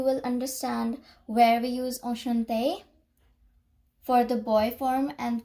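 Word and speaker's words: enchanté: Well, when you speak Enchante for girls or for boys, no matter what, the speaking part, the pronunciation part is the same, as it only differentiates between how you write.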